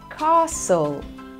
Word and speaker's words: castle: you say this word remember that t sound is silent in this word castle castle e s here